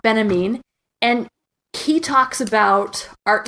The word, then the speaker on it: Benjamin: Again, I'm not getting the first names right, but and his last name is pronounced Benjamin, and he talks about art in the age of mechanical reproduction.